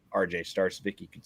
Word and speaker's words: Starcevic: Just look up the Motor Startardom Show or my name RJ Starvik. You could spell that last name.